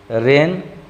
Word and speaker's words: rain: जैसे आप देखिए RAIN। अब गौर करिए 2 यहाँ पर वॉयल है, लेकिन उच्चारण में आप क्या कहते हैं, रेन।